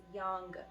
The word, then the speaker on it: yaang: Basically, it's very similar to yaang, me, but it's yaang. You have to pronounce the G at the very end.